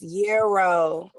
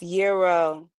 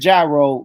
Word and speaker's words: gyro: It's the G is silent. It's euro. I I went to All right. So I said gyro growing up and then